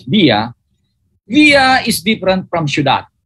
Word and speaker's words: villa: Then there is another key word here, villa or villa, but pronounced in Spanish as villa.